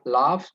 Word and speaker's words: laugh: Sleep, write, laugh juga. Sleeps, writes, laughs. Hati-hati, laugh itu G, walaupun itu belakangnya GH itu bacanya F ya. Laugh. Ringan aja nyebutnya, seperti kita bahasa Indonesia nyebutnya LAF aja begitu.